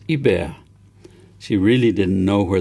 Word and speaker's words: Hubert: spontaneously blurted out Hubert which he pronounced in the French fashion as a bear she really didn't know